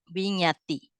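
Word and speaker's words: viññatti: So this one we pronounce it win, nya, vinyati.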